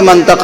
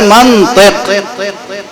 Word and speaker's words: منطق: اب ہم کیسے سمجھائیں آپ کو کہ منطق غلط لفظ ہے؟ اصل لفظ ہے منطق. اب کسی عرب سے پوچھئے کہ منطق کیوں ہے، میم پہ زبر کیوں ہے اور تو کے نیچے زیر کیوں ہے، وہ ایک ایک سوال کا جواب دے گا.